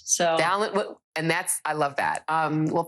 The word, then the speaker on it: Balint: I always say Balint rhymes with talent. So Balint, and I love that.